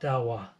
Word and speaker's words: Dahua: of their all-star program have you heard it Dow well probably not and guess what until recently